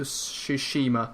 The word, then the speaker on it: Tsushima: The other one is Ghost of Tsushima. That's what it's pronounced. Yes. That's by Sucker Punch Studios, who made the Sly Cooper and Infamous series. Yes. We don't know a lot about Ghost of Tsushima yet, so that's why we're not really talking